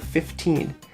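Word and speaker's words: fifteen: they both get a very even stress okay 15 15. you could say 15 and put the stress on the first syllable or you could put the stress on the second syllable 15 but most common i think is to put an even stress on both syllables 15.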